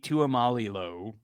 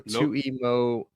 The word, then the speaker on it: Tuimoloau: JT Tuimalilo. No way I said that. Tuimolo. Tuimoloau. Or no, Tuimoloau. Sure. Tuimoloau.